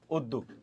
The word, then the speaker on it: উদ্যোগ: একটা কথা মনে রাখবে জ ফালা চলে যায় র ফালা রয়ে যায় এই জ ফালাটা চলে গেছে তাহলে আমি উকারটা দিলাম তারপর গ এর নিচে হসন্ত দিলাম উদ্দুক উদ্যোগ ঠিক আছে আমি আবার